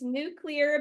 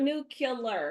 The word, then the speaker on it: nuclear: It is nuclear because it is dealing with the nucleus, right? It is not what? It is not nuclear. It is never nuclear.